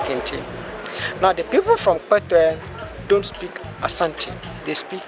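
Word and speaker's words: Kpetoe: Kpetwe is spelled K-P-E-T-O-E, Kpetwe.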